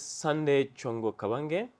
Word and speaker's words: Sanday Chongo Kabange: Sanday, would you introduce yourself because I have problem pronouncing your surname? Absolutely. Thank you very much for having me. So my name is Sanday Chongo Kabange.